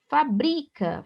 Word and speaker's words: fabrica: Fabrica, fabrica, olha o verbo fabricar. Então, aqui a sílaba tônica é o bri.